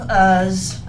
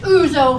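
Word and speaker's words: ouzo: in front that evening had a glass of us no that's pronounced uzo honey I looked it up in the encyclopedia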